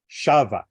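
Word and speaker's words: שָׁבָה: first syllable so definitely the accent is there because it is in the past tense Shava but and in the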